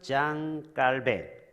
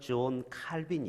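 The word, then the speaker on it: Jean Calvin: 여러분, 종교개혁자 마틴 루터도 있지만 20년 후에 프랑스 장 깔벤, 영국식 발음은 존 칼빈이 있어요.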